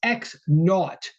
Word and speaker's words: x naught: read x sub 0, we would read it out loud as x naught.